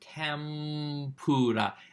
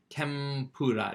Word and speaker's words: tempura: Now, it's written tempura, but they'll often pronounce it tempura. Because it's easier to say an M sound before doing the P sound.